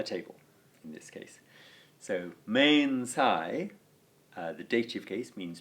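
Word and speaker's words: mensā: So mensai, the dative case, means 2 or 4 a table. And finally the ablative, mensa, with a long a at the end, is used for with or by or from a table.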